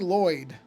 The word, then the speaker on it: Lwyd: But basically the way it's supposed to be pronounced is Avari. I guess you would do it almost like this. Avari Lloyd.